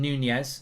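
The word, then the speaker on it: Núñez: do Darwin Nunez today yeah like lasagna it's Darwin Nunez so there we go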